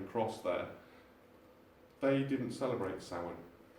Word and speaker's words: Samhain: it as it's pronounced, as it says as it's spelt, Samhain.